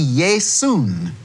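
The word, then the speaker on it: Ἰησοῦς: name Joshua in English I would see yay soon that is how they say it in Greek a different ending at the end which a little noon sound now if I go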